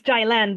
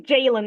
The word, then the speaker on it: Jaylan: Is it Jaylan? Well, it's Jaylan, but every American I know says Jaylan. I think because there are Jaylans in America, a lot of them.